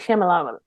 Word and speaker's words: Shyamalan: Tanisha, it's M. Night Shyamalan. Lum. You're right, my bad.